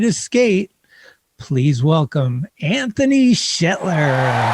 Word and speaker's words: Shetler: what's up this is anthony shet oh god i butchered my own name all right what's up this is anthony shetler and you're watching talking schmidt you it's cool